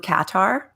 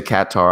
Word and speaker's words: Qatar: After I finished my year, after your stint to Qatar in the Middle East. You can pronounce it however you like, because that's going to come up in just a second. So you say Qatar, I say Qatar.